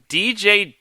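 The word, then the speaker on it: DeeJay: And his name is not spelled like D and then J. It's spelled D-E-E and then J-A-Y. It's like DJ Dallas.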